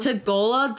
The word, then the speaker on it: Tagalog: Tagola. Tagola, that's how you say it.